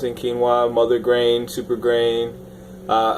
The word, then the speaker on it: quinoa: uh so actually look boom here's how you pronounce it quinoa mother grain super grain uh and a lot